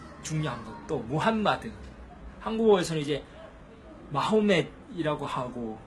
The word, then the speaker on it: 무함마드: 그래서 이제 쉽게 알라후를 알라라고 표현하는 것처럼 무함마둔을 무함마드 이렇게 발음할 수 있어요.